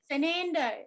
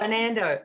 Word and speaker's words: Fernando: your last name fernando like the aversion fernando oh i love it